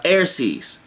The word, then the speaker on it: Airces: comes together on a cusp, then you are Airces. And I spell it A-I-R-C-E-S.